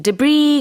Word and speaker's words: debris: R-U-B-B-L-E D-E-B-R-I-S. 네, debris 같은 경우에는 두 가지 발음이 있는데요. debris라고 하는 분들도 계시고 Yeah. 네, debris라고 하기도 합니다. S 발음은 하지 않아요.